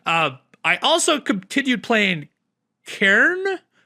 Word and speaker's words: Cairn: Uh I also continued playing Karen. Karen, that is how you say that. C A I R N. I've been corrected enough times now. Karen, it's a real word.